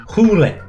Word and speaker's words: Hole: to hill in english the word is pronounced as two syllables we're stressed on the first hulen in the bath the australian police call him harry holy which is way worse